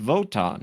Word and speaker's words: Wotan: Wotan is pronounced Wotan.